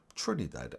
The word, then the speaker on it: Trinidad and Tobago: people in 2022 and you pronounce Trinidad and Tobago like this go Trin knee dead and Bay go Trinidad and Tobago subscribe for